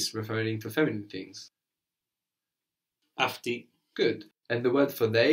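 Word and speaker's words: αυτοί: So the plural of aftos, afti, sounds just like she, but it's spelled differently.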